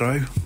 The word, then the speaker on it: gyro: And obviously Greek food in terms of gyro, I believe that's how you say it, gyro, can't roll my R's, but either way, that's what it's supposed to sound like, ish.